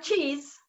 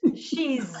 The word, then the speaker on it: she's: And it's not cheese, it's she's. Those two are very close together.